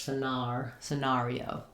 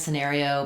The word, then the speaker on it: scenario: I think of the air going together and the R, not so much scenario.